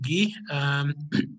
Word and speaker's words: Guy: So my name is Guy, it's pronounced Guy, but I'm Francophone, so I pronounce it Guy.